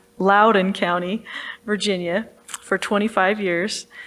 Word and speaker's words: Loudoun: She's been a resident of Ashburn in Loudoun County. I just said it wrong. Loudoun County, Virginia, for 25 years.